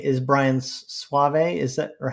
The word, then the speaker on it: Sauvé: No, I could be wrong, but I'm fairly sure it is Brian Sauvé.